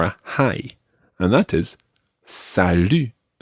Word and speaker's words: salut: it and this time we can use that u sound it's not Sal it's sal sal listen carefully to the difference between bour and Sal it's a completely different vowel sound Sal repeat sal sal